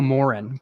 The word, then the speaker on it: Moran: 12we year Brian Moran yeah it's it's Moran uh no Moren Brian Moren but I said it